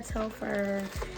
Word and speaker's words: Telfar: baby we're talking about telfer okay so far tell fur have you want to pronounce it is her love her so this